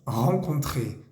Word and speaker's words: rencontrer: Encontrar es rencontrer, rencontrer. Ahí hay dos vocales nasales. La primera es en, la segunda es un.